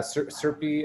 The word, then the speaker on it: CRPE: we've been doing uh serpi as we pronounce it is the center on